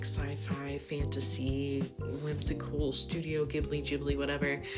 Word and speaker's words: Ghibli: of leaning into like sci-fi, fantasy, whimsical, Studio Ghibli, whatever.